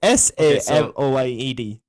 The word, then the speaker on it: Samoyed: It's SAMOYED. So spell that again. SOL. Samoyed. SAMOYED. Samoid.